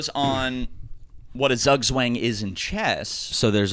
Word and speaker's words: zugzwang: zīģzwāng, which means Like we're diving into a a swim. situation in chess zīģzwāng.